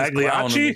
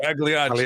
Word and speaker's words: Pagliacci: should go see this Pagliacci? clown. Pagliacci. That's the one. Yeah. Pagliacci. My roast ruined. My roast ruined. It's spelt Pagliacci, but I'm pretty sure it's pronounced Pagliacci.